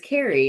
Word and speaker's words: Carey: But it was a little bit awkward because I was like, I've never had somebody mispronounce on numerous occasions on her attempts. But afterwards I was like, it's Carey.